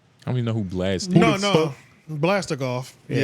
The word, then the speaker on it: BLXST: a nigga like Blast? You feel that way about Blast? I don't even know who Blast is.